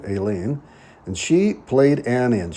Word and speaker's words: Aileen: That's the Irish pronunciation, Aileen.